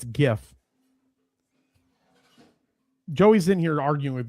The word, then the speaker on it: GIF: The creator of the GIF, Steve Wilhight, said the official pronunciation of it is GIF with the J sound.